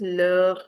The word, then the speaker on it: leur: plural, then we use leur maison. The pronunciation of leur without the s and with s is the same.